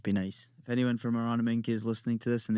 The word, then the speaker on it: Aronomink: Aronomink. You're putting an N. There's an N in it. Aron. You're doing NG.